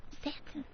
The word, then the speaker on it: satin: Satin. God, we all have accents. We know that, but you just amaze us with yours. Yeah, How do I you say just wonder Satan?